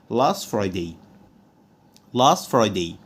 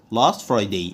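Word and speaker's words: last Friday: عليها كلمه واحده طيب برضو حرف التي لو جه في اخر الكلمه مش بيتنطق لو جه وراه حرف ساكن زي مثلا كلمه لاست لاست فرايدي لاست فرايدي لاست لوحديها فرايدي لوحديها الاتنين مع بعض هنطقهم لاس فريدي لاس فرايدي مش هقول عليها لاست فرايداي هقول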